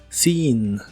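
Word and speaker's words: seen: en inglés es sin la doble e se pronuncia como una doble I sin sin y usaremos la frase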